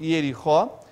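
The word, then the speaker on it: יריחו: Jericó em hebraico pronuncia-se Yerichó, e é derivado da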